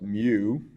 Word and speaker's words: mu: loves we use we use a Greek letter pronounced mu and that is the mean of the actual